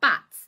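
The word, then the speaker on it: batts: Now, bats is what this is.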